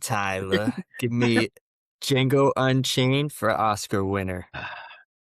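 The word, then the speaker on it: Django: The D is silent. Tyler, give me Jango Unchained for Oscar winner.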